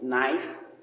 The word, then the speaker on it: knife: We are looking at the letter K. The sound is silent, and the words used in this rhyme is knife, knee, knock, knock, knuckles, night, new. All the words, the K is a silent K.